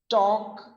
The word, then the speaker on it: talk: So where the L is silent. So here it is walk, talk, and chalk.